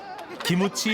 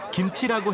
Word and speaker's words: 김치: 기무치 하면 안 되고 김치라고 해야 찍히는 스마트폰이 모두를 웃게 만든다.